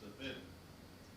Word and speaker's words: Levin: Unlike the surname generally, which is Levin, it's pronounced Levin.